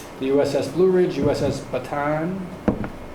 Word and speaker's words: Bataan: He has a maritime experience aboard three naval vessels, the USS Blue Ridge, USS Bataan, pronounce that right?